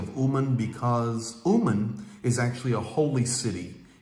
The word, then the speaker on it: Uman: keep their eye on umen so on the map you would look at it it is spelled u m a n keep your eye on umen there is a big